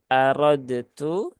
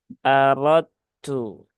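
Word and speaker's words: أردتُّ: ke huruf ta ya Jadi bukan aradtu tetapi aradu aradu ya jadi langsung ke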